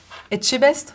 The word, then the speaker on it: Etchebest: Pas facile à prononcer. Je vous écoute. Etchebest?